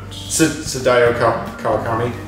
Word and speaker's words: Sadayo Kawakami: How do you pronounce that? Sadayo Kawakami. Yes. I'm Sadayo Kawakami.